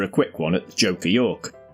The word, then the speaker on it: Duke of York: quick one at the Joker York. Now I always pronounce this Joker Yoke, but each to their own.